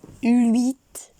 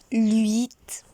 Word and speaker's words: huit: So the pronunciation is huit. Huit.